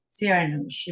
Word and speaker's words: Siranoush: involved with your own work which is um sarah she am i pronouncing it correctly you are yes not a